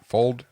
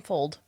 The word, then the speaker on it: Fuld: oh I found one it's a vintage William pronounce the last name for me any old Fuld William Fuld yeah I've heard of William post before he